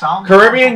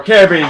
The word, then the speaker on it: Caribbean: one is choosing to Caribbean getaway or Caribbean getaway depending on how you say it so that puts